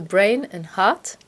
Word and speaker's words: Brain & Heart: Bonjour, Vous êtes le fondateur de Brain and Heart, exactement, je prononce bien, très bien.